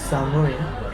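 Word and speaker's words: 寒い: I said, it's samui. Right? It's samui. And I told him to say it like samui.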